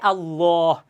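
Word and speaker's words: الله: তাসদিদ আছে, তাহলে এই আল্লাহ শব্দের দ্বিতীয় লাম এর পূর্বের হরফে যদি জবর অথবা পেশ থাকে, তাহলে আল্লাহ শব্দের লামকে মোটা করে পড়তে হয়, পুর করে পড়তে হয়, তাহলে হয় আল্লাহ।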